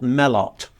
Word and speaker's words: Joseph Melot: Joseph Melot is spelt Melot. Well, spelt Melot, but it's Melot because of French.